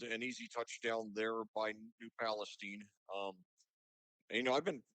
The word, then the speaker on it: New Palestine: I mentioned it was my first time commentating New Palestine and he he very politely and pleasantly told me the correct pronunciation is New Palestine.